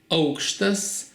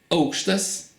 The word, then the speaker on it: aukštas: and enjoy so okay we write these two words in the same way oakstas and auxtas but the emphasis is different oakstas you can see the emphasis is on the second letter and it's a noun